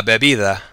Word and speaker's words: bebida: Notice how the D at the end sounds more like a TH as opposed to a hard D like we do in English. One more time, repeat. La bebida.